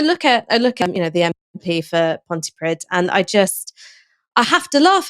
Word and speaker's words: Pontypridd: We both messed up there, Ash, because we both said Pontypridd. It's Pontypridd.